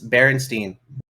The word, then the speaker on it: Berenstain: No, it's pronounced the same. It's Berenstain.